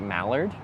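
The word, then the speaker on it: moulard: It's It's spelled M O U L A R D. And you say that like malard.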